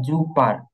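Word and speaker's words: Super: এবার আরেকটা জিনিস দেখেন শব্দের শেষে যদি এ আর থাকে একসাথে এ আর তাহলে উচ্চারণ হবে আ এর মত কিসের মত আ এর মত মানে শেষের এ এরটা আর উচ্চারিত হবে না আর এটা আবে যেমন যু জুপার এখানে কিন্তু জুপার না এটা জুপা জুপা বুঝছেন ইংলিশে কিন্তু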